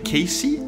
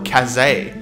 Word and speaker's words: Casey: name pronunciations for example the first name casey is now a cassay michael myers from the